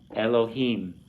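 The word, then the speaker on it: אלהים: So it's Elohim. And this is a chatif segol at the beginning, which just makes a S sound like the segol.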